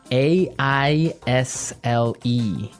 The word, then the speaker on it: aisle: look at our second word now isle is a i s l e Isle Isle it's a tricky word it's sounds